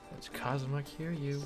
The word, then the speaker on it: Kazuma Kiryu: That's Kazuma Kiryu. Rhymes with Kazuma Kill You.